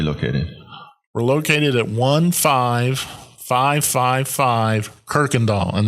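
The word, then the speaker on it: Kuykendahl: We're located at 15555 Kirkendall, and there's no R in Kirkendall. That always gets me, yeah. And that's at the corner of 1960 and Kirkendall Road up in the northwest part of Harris County.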